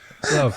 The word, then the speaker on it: LOVB: Love. It's a soft B.